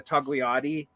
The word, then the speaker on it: Togliatti: Later, Bordigists, pretty much by the Togliatti, I'm never sure if you pronounce the G. I think I've been told you don't, but I can't help it.